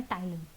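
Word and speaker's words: ptyalin: इसका दूसरा नाम है टाइलन ल right P टी वाई ए ए एल आई एन ठीक है पी साइलेंट ओवर हियर इसके अलावा भी एक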